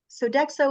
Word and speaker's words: Sodexo: by the way Joan with respect to sodex Sodexo is that how you say it yes okay